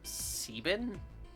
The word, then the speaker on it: Seven: Seven is Seven. Once again, there's no difference to Seven's name aside from the fact that they sort of pronounce it as Sebin, I believe, in the Japanese version.